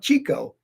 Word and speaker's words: Chico: hilarious was Chico Marx now some people pronounce his name Chico it's not Chico it's Chico and maybe someday I'll